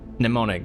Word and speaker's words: mnemonic: Mnemonic, that's it. It is mnemonic. Mnemonic. You spelled it wrong! Yeah, all the goddamn silent letters.